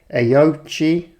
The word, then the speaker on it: Aoocci: So finally, I'm going to get around to reviewing the Aoocci, that is how you pronounce it because I asked them, C6 series, Apple CarPlay, Android Auto display unit for your motorcycle.